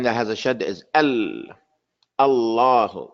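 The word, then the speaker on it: الله: The name of Allah and the name of the Prophet. The name of Allah has a lam that's mushaddada.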